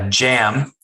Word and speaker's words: Cem: So in in Properties, it's Jam. Yeah. CEM. I thought Conrad said it's pronounced Jam. So, and it's a Turkish name.